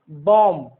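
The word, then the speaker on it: bomb: जब एम, उसके पहले एम हो, जैसे बॉम्ब, न कि बॉम्ब, गलत उच्चारण है। बॉम्ब, कॉम, क्लाइम, क्रम, डम, नम।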